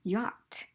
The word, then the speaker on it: yacht: or it could have no sound as in yacht the CH is silent in here so if you are